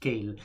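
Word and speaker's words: Kailh: because the kyle sorry it's not kyle it's actually pronounced kale but we pronounce it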